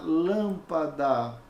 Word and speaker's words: lâmpada: palavra é a antepenúltima como por exemplo na palavra lâmpada está lâmpada ó e vejamos aqui e na palavra lâmpada aqui ó é a antepenúltima então ela é proparoxítona e tem três mas